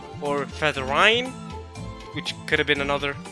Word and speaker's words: Featherine: that for me that her name is actually Feathering not featherine like how I thought it was or feather rhyme which could have been